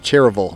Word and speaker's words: Cherryville: Cherryville North Carolina that's Cherryville but you don't pronounce the Y Cherryville North Carolina and North